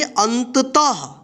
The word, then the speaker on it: अतः: था पढ़ेंगे क्या पढ़ेंगे अतः ठीक है यानी जी भी अक्षर के बाद विसर्ग इस तरह से दो बिंदी लगा रहेगा तो उसे अक्षर के बाद हा का उच्चारण कीजिएगा ठीक है तो यहां पर